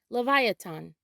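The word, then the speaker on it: לויתן: In Hebrew, whale is pronounced leviathan, leviathan.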